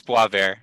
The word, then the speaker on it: Boisvert: Do you pronounce it more like a French Canadian? Yeah, you got it. It's Boivert.